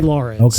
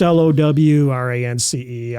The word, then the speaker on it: Lowrance: I always say Lawrence. Okay. I always say, I know it's Lowrance. I don't talk Southern, so.